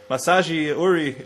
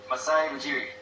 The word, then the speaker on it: Masai Ujiri: Since Masaji Uri, however you say his name, is gone. Masai Ujiri.